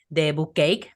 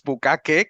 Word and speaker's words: Bookcake: lector esa parte la tienes más que cubierta, pero la escritura, Bookcake es una forma de pronunciarlo, de otra forma es bucaque, que es ¿qué?